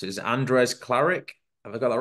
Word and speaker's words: Andres Klaric: asked the name and I forgot how to pronounce it is Andres claric have I got that right that's perfect all